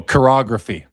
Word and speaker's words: chirography: Oh, chirography. Okay, cool. Yeah, it's a SP Authentic chirography.